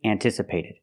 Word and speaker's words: anticipated: anticipated we say highly anticipated we use a different vowel sound for the a in anticipated or the verb in the present anticipate we use the sound an an not un not anticipated like cup